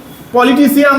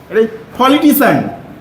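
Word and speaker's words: politician: situation আর এটা হবে ফিজিশিয়ান ফিজিশিয়ান ওকে ফিজিশিয়ান উচ্চারণা করবে না কি করবে ফিজিশন যেমন রাজনীতিবিদ পলিটিন এটা আমরা কি পলিটিশিয়ান তাই বলি পলিটিশন পলিটি যেমন এম ইউ এস আই মিউজি হ্যাঁ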